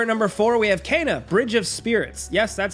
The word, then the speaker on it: Kena: Next, over at number four, we have "Kena: Bridge of Spirits." Yes, that's actually how you pronounce it.